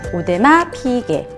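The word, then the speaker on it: 오데마 피게: 시계를 잘 모르시는 분들은 오데마피게 를 뭐라고 거 라고 하시는 분들이 있더라구요 안돼 오 대박 개도 오데마피게 예 라고 읽으시면 됩니다 다섯째는 2차 등 일이에요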